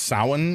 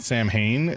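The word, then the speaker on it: Samhain: last week, but the fact that this is pronounced sin and not Sam Hayne just kind of blows my mind.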